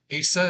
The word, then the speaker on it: Asa: And then Asa is on the right. It's ASA. And Corvello is his name, so it's Asa C.